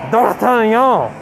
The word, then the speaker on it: D'Artagnan: D'Artagnan, is that how you pronounce it? What does it mean? It sounds French. So D'Artagnan.